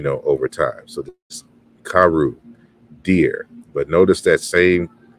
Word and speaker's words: caro: But in the Portuguese, we notice that it's pronounced caru, even though it's spelled with an O.